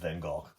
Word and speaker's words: Van Gogh: It's actually pronounced Van Gogh.